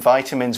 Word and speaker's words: vitamin: In the UK, we say vitamin. So don't worry if you sometimes hear it different.